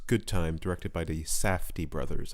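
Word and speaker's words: Safdie: time directed by the safti brothers i hope i'm pronouncing that right because in the past i've often pronounced it as sad fee and i'm sure they've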